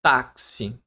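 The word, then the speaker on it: táxi: O X ele não produz o som de X. Não, não produz. Ó, ele X, ele tem duas. Então aqui vai ter dois fonemas.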